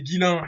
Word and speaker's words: Guillain: Et je sais pas comment ils se prononcent son nom, c'est Guillain ou Ghislain? C'est Guillain, il y a Guillain et Guillaume.